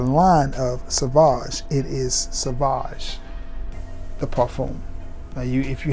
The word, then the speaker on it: Sauvage: And people always mispronounce it when they find out I do fragrances. You got that Savage? I said, I got Sauvage.